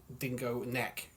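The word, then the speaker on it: Dingo Nek: That's it's spelled N-E-C. I take it, not like dingo neck. No, N-E-K.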